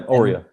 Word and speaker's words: Aurea: the the website so is it pronounced aurea are you yeah oreo and so that's latin